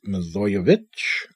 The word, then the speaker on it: Milojevic: I've been saying Milojevic, so it's sort of a shortened version of her last name, I suppose, but that's obviously wrong. It's Milojevic.